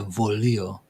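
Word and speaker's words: voglio: It's interesting when I see G because it's like vo, and then, but sometimes the G is silent, so it's just like volio, Okay, good day.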